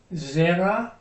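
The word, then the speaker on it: זרע: Zera. See the accent is on the first syllable here?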